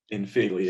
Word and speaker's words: Filey: And so this isn't like they searched for, caravan park in Feely. It's, or I don't know how to pronounce that. Feely. But You got it, Filey, yeah.